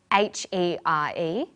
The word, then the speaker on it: here: Another example of a set of homonyms is H-E-R-E and H-E-A-R. They're both pronounced the same, here.